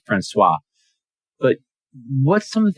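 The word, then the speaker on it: François: France Wallace and Coro it's pronounced franois but what some of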